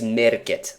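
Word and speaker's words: Märket: i'm not entirely sure a finnish person would look at this and he would say market but i think it's a swedish one swedish name and in in swedish that e letter will sometimes pronounce an a sound so maybe it's merket island uh or if it's if it's really swedish if it's like high swedish it's might be even their i'm not sure as in merchant so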